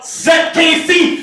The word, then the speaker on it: SecKC: Once you have said that to the bartender, give your old head a high five, shout, SecKC fucking rules, pronounce the Z, not an S, and if you do that, you will both get a free drink.